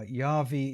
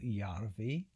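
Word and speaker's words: Järvi: Now, Yavi is how the Americans pronounce it. I always get into trouble in the comments for how I pronounce it, but it can also be Y pronounced in Flemish. I think it's something like that, Y. But for now, I'm going to go Yarvi because that's um also apparently an acceptable way of pronouncing his name.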